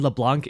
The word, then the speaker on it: LeBlanc: those within its domain I know the C in LeBlanc is silent but unfortunately I don't